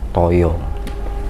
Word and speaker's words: taya: Taya itu artinya taya, toyo. Kan taya bahasa Jawa bacanya toyo, ya.